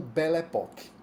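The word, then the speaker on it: Belle Époque: explica muito bem e ficou conhecido como Belle epoque é assim que a gente pronuncia em francês essa imagem que vocês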